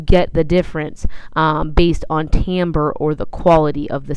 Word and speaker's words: timbre: know it doesn't look like it would be pronounced Tambor but that's how you say that word not timbre or something silly like that Tambor is the